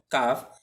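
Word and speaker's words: ق: এরপর আমরা সরাসরি চলে আসবো কফ হরফে।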